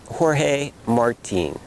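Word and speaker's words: Jorge Martín: In Spanish, his name is pronounced Jorge Martin.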